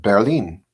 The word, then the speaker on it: Berlin: It's just pronounced differently. They say it like the word bear, and then lean, Berlin. Berlin. We say Berlin, and they just say it with a little more different vowel pronunciation.